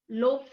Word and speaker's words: loaves: you pronounce the plural? Loaves of bread.